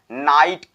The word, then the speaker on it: knight: जब भी जीएच किसी भी वर्ड के बीच में आ जाए तो समझ लेना उसका लोप हो जाता है, वह साइलेंट हो जाएगा, इसका लोप होगा।